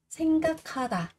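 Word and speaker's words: 생각하다: Senkakata, suy nghĩ. Cờ gặp hờ, chúng ta sẽ đọc là khờ đúng không?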